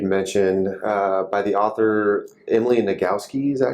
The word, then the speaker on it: Nagoski: We're going to discuss a book that you'd mentioned by the author Emily Nagoski. Is that how you? Yeah, you actually pronounced it well.